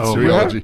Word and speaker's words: cereology: It sounds like cereal. It's cereology. And it's named after the Roman goddess of agriculture, Ceres, right?